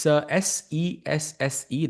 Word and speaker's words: Sesse: And chat people are asking, what is SESI? It's SESSE. That's how you pronounce it.